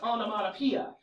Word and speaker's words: onomatopoeia: do in my head it's a Greek word so the spelling is very Greek so it's pronounced on mapia but when you spell it this is what I do I go on M and that's not at all how it's pronounced but it helps me